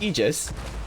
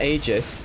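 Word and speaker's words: Aegis: here at level 10 I've heard it's pronounced egis not AIS I don't I don't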